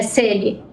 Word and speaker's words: Selly: Celi, só fale para mim se é Celi ou Celi a forma correta de se pronunciar o seu nome, por favor. É Celi.